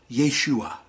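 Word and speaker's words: ישוע: When we look it up in the Strong's Concordance, it's pronounced Yeshua.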